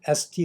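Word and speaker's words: Estée: 도 있습니다 여하튼 1946년 st 로더가 자신의 이름을 건 화장품 회사를 창업하지 회사 이름을 지을 때 프랑스 어감을 주기 위해 st 알파벳 2에 프랑스식 액센트를 추가했다고 하는데요 발음도 티가 아니라 에라고 불렀죠 이것 때문에 지금도 st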